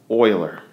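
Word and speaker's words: Euler: not making this up it is spelled U or I'm sorry e u l e r but it is pronounced Oiler okay and I'll tell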